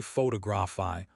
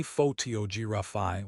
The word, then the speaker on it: photography: If you say photography, four equal beats, you sound like a robot. If you say photography, one big beat, three weak ones, you sound like a human.